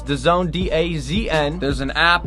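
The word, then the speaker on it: DAZN: no problem dancing otherwise known as the zone pronounce the zone Daz end there's an app you could download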